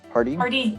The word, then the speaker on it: Pardee: Am I pronouncing that correctly, Kathryn? Pardee? Pardee, yeah.